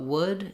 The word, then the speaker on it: would: So one way to think about it is, first of all, in would, make sure you're not trying to do the L sound. The letter L is silent.